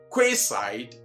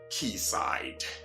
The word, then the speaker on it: quayside: that we know likewise this one is never quayside but what key side and that's where I say that English Queen's